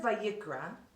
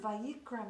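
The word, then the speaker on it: ויקרא: The word Vayikra, the name of this book, ends with the silent letter Aleph.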